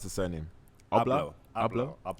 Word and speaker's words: Abloh: But this acquisition in particular was quite interesting because Virgil, how do you pronounce his surname? Abloh. All right, cool. Let's say Abloh.